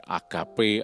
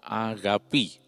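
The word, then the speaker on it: ἀγάπη: dalam bahasa Yunani Hai seringkali di gembar gemborkan sebagai Agape Agape tapi sebetulnya pengucapan yang benar adalah agapi nah Kasih hadapi ini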